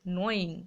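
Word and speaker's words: gnawing: তাহলে মনে যদি হয় আসলে কি করছে, আসলে কি করছে দেখো, হু ইজ অ্যাকচুয়ালি, আসলে নোয়িং, এখানে জি উচ্চারণটা হয় না, ঠিক আছে, নোয়িং মানে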